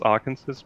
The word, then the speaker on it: Arkansas: And even though it's not spelled like it, but I was coming across the state of Arkensor, which spells Arkansas, but you didn't pronounce it that way, and username wasn't